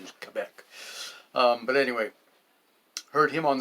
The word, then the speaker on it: Quebec: Quebec, it's the correct pronunciation is Quebec.